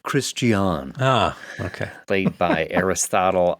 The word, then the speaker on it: Christian: it's pronounced Christian.